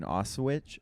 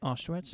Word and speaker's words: Auschwitz: Nazi family, like one of the guys running Auschwitz. Oh, I told you that, right? Auschwitz? How do you say it? Yeah. Auschwitz?